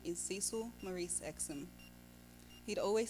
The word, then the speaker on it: Cecil: To many, he was Cecil, or Cecil, as that's how his name was commonly pronounced in Australia.